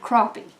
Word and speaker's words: crappie: right crappie crappie crappie it's more of an O sound rather than a sound crappie so I went to